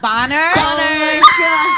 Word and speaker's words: Bonner: I called him Boner earlier because I didn't know how to say his name. Everyone's like, Bonner?